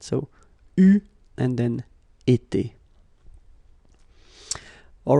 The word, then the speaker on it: eu: Okay, but you will have to pronounce it U.